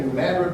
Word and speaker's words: New Madrid: You got Fort Pickering, Fort Randolph, Fort Pillow, there was a Fort Harris, and then island number 10, New Madrid, Missouri, pronounced Madrid by the way, Tiptonville, and then they'll eventually extend their fortification, up to Columbus.